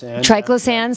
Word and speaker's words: triclosan: notice a tweet that you had out about triclosan is that how you pronounce it yeah so triclosan so i know that's bad and why is